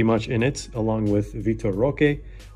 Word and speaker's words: Vitor Roque: And after that, tier 1, this guy is pretty much in it, along with Vitor Roque, or I guess how they say it in Portuguese or like in Brazil, Vitor Roque.